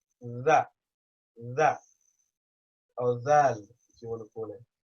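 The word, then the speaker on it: ذ: You stick the tongue out, and the top teeth and the bottom teeth are literally just biting onto the tip of the tongue.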